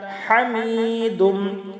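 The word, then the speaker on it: حميد: ইন্নাকা হামিদুম, হা হলকের মধ্যখান থেকে চাপ দিয়ে উচ্চারণ করতে হবে, এটা হলো বড় হা।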